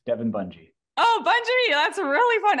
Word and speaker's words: Bunje: last name is pronounced Bungie like sort of like it looks Devin Bungie oh Bungie that's really